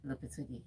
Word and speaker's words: Lopetegui: Please pronounce this name, Tega. Yeah, Julian Lopetegui.